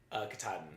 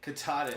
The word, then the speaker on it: Katahdin: say is a Cabot Canada at a Dean Katahdin Katahdin which is confusing for me because I was